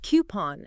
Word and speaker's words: coupon: you're right it's not coupon it's coupon coupon okay so it rounds with moon exactly coupon yeah got